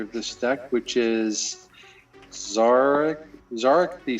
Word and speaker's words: Szarekh: the rightful commander of this deck, which is Zarek the Silent King. Spell it. SZAREKH. Zarek.